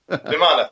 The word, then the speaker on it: Vimana: Oh yeah, and the Vimaras with Vimara, I don't even know how you say it. That sounds like a dog Vimara. Vimana, thank you.